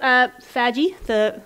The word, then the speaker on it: FADGI: My other day job, I'll talk about FADGI in a moment, but my other day job is I author the Sustainability of Digital Formats website for the Library of Congress.